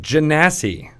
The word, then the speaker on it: Genasi: going to talk about Jen a sea and where that race comes from you pronounced it correctly I did okay you what wait so it's derived from Jeannie yep are you that